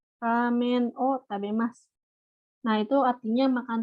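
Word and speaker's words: を: Kalau misalkan pakai romaji, misalkan ramen wo tabemas, tapi dibacanya itu ramen o tabemas. Biasanya romajinya ditulisnya wo gitu ya, wo. Tapi dibacanya itu o biasa kayak gitu.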